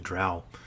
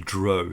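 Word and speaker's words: drow: and went down and became the trowel or the Dro if you want to pronounce it that way I'm curious where you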